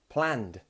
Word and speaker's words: planned: some plans and you've planned something. Planned. I planned something yesterday. Now, this sound is slightly hard to make also. Planned. Once again, it's almost like that T sound, but it's with a D.